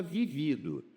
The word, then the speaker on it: vivido: Olha só, aqui está vivido. Vivido é particípio do verbo viver, mas tem vívido, que é adjetivo.